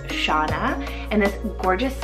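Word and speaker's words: Chana: I think it's so stunning, and it's the name Shauna or Hana, spelled C-H-A-N-A. Depends on where you are in the world, but the more common pronunciation is Shauna, and this gorgeous name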